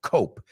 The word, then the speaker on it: cope: So cope, C-O-P-E is the word. The second word is coop. No, they don't sound the same.